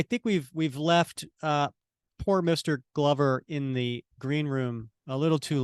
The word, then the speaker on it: Glover: It's Glover, right? Glover, like a glove.